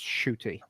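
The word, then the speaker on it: Ncuti: it by the way it's n-c-u-t-i but it's pronounced shooty and yeah uh i'll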